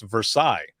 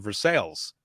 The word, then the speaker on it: Versailles: Or there was another one that's it's Versailles, but everyone always said Versailles. And I think in different areas people pronounce it different, but it's Versailles.